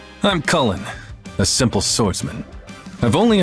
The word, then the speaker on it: Chulainn: his name is hodin in genealogy hodin or Hollen does seem to be one of the ways to pronounce this name although Cen also seems to be fine as well basically call him what